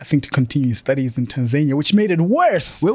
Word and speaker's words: Tanzania: It's pronounced Tanzania.